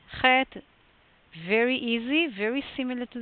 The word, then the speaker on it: Chet: Chet, modern Israeli pronunciation is doing it like traditionally it's going to be something like in the throat.